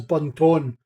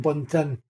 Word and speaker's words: Buntin: That's like pronouncing my last name as Bunton rather than Buntin.